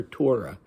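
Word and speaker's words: Thyra: her Dimitri calls her Torah her name was spelled t h y r a but he writes it what I assume to be phonetically I assume he heard it as Torah so he wrote it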